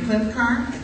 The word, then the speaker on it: Klincar: hum me we are delighted to have Dr clinar that I pronounce that correctly yes ma'am but I usually